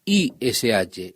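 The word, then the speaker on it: איש: La palabra para decir hombre es I-S-H, ish.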